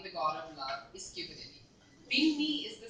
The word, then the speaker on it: Cupidity: So, and Cupidity also rhymes with stupidity, and it actually means the human behavioral foibles you commit when you fall in love.